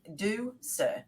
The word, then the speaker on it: Ducere: it's spelled Ducure, but it's Latin for to lead, and it's do sir, so DOSIR.